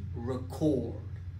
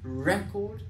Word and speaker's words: record: est-ce que je dis record? Tu vois, record, j'accentue sur la première syllabe, record, ou est-ce que je dis record sur la deuxième syllabe, record?